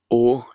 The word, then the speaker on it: å: Sir ø ø Yes å is the final letter It's pronounced like for or door og yes For The